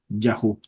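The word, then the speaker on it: יהו: ía es la palabra yahu vamos a escribirla se pronuncia más o menos así suena la pronunciación yahu así por ejemplo el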